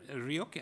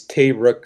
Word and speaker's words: Tay Rook: Ryuk. Am I pronouncing your name correctly or wrong? Oh. Tay, you've been unmuted again. Hi there. It's Tay Rook, sir, and Tay Rook, I am